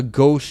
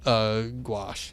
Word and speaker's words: gauche: See, it's gauche is the way you say it. That's right. When it's lacking grace or social polish. Yeah. I said it right. Okay. It's not gouache.